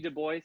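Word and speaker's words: Du Bois: there is the WB Dubois said his name Dubois not Dubois when you say that's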